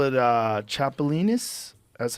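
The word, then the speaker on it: chapulín: you cook it up they call it uh chapolin that's how you say it I would do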